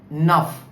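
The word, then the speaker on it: neuf: So the word like nuff for example the word is f there n enough nuff means new also nuff means nine also.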